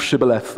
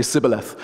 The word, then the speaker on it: Shibboleth: One of these tribes couldn't pronounce sh, couldn't make the sound sh, so they would say Sibboleth, which is why we